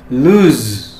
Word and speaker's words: lose: ulangi apa yang saya Hai ucapkan ya hai luz Hai luz kalah atau kehilangan dan lulus The